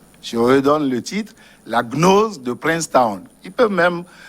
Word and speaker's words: Gnose: Si les téléspectateurs sont intéressés, ils n'ont qu'à chercher le livre de Raymond Ruyet, hein, La Gnose de Princeton. Gnose, ça s'écrit G-N-O-S-E.